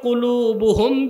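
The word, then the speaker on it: قلب: বাম বুকের 2 আঙ্গুল নিচে, কলব। কলব, কালব না। অনেক মৌলবী সাহেব দেখি বলে কালব। কালব মানে কুত্তা। উচ্চারণ কি হবে? কলব।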